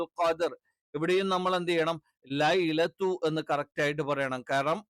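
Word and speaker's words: ليلة: എന്ത് ചെയ്യണം ദീർഘിപ്പിക്കണം ഖദർ ഇവിടെയും നമ്മൾ എന്ത് ചെയ്യണം ലൈലത്തു എന്ന് കറക്റ്റ് ആയിട്ട് പറയണം കാരണം അറബിയിൽ ഞാൻ പറഞ്ഞു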